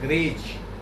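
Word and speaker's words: greige: Fabric के पहले form को यानी लूम के नीचे जो गिरा उसको बोलते हैं ग्रेज। ग्रे उच्चारण होता है लेकिन स्पेलिंग है GREIG, वो होता है ग्रेज फैब्रिक।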